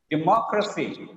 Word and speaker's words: democracy: Be careful. Democracy. Here the ending is crusty. The preceding syllable is mo. Democracy.